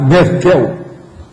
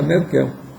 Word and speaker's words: Merkel: de Londres, a Merkel, eles não falam Merkel, não, é Merkel. Então, a Merkel. Eu não sei se essa dona, será que é alemão? A pronúncia que chama é Merkel? Já viu? Quer dizer que Merkel deve ser americano que fala. O alemão deve ser Merkel.